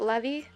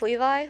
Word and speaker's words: Levi: was Levi or levy I pronounced it levy but then I learned it was pronounced Levi look at me mispronouncing